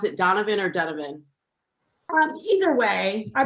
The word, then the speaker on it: Donovan: Actually, I should ask, do you pronounce it Donovan or Donovan? Either way, I pronounce it Donovan, but a lot of people pronounce it Donovan, so either way is fine.